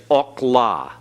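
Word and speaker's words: אכלה: This one is okla, okla. Everyone? Okla. The comets hatuf is always in a syllable that is closed, a closed syllable.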